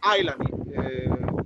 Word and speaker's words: island: Island, mister, is the pronunciation.